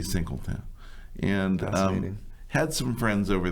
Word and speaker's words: Saint-Quentin: Okay, otherwise pronounced as San Quentin for those of us in here in America, but they say Saint-Quentin.